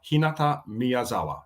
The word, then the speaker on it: Hinata Miyazawa: So, first name Hinata, second name Miyazawa. Hinata Miyazawa. So in Japan, they speak in syllables. So Miyazawa. Right.